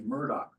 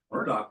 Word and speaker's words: Murdoch: And of course, Murdoch rhymes with what? Sherlock. Sherlock.